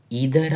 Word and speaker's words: either: ईदर आपका, इसको आइदर भी बोले या इधर भी बोले। यूके वाली इंग्लिश में इसकी प्रोनाउंसिएशन एक है और अमेरिका वाली इंग्लिश में इसकी प्रोनाउंसिएशन दूसरी है।